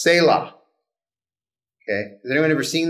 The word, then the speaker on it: Selah: It's pronounced Selah.